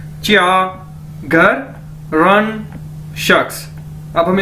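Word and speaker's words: 家: उसके बाद ये देखिए हमारे पास नेक्स्ट वर्ड है चा, JIA, चा, यानी जिस तरह हमने पढ़ा था नो को च्यो, तो इसी तरह ये है चा, चा, चा, इसका मतलब है होम यानी घर।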